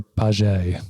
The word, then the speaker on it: Paget: It's called Operation Paget, Paget. How would you pronounce that, John? Either Paget or Paget, if we're going to go with the French.